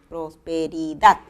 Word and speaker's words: prosperidad: ok entonces acento prosódico en la palabra prosperidad está en la última sílaba prosperidad en la siguiente palabra